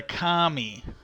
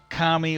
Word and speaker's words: kami: Okay, now the next one is the kami. Not the kami like communist. The Kami, I think it's spelled.